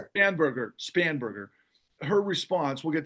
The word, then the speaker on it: Spanberger: right after and and we'll talk about a Abigail's Stern, how do you pronounce her last name? Spamber. Spanberger.